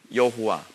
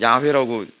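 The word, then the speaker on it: 야훼: 요거를이 유대 그 히브리들은 뭐라 하냐면 여호와 요해 바브해. 요거 우리가 흔히 여호와라고 부르는 거거든요. 근데 요즘엔 야회라고 읽는게 옳다라고 이제 그렇게 얘기하죠.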